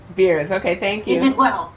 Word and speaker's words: Berries: Berries. - Yeah. - Did I pronounce it correctly? No. - Close enough its Beers.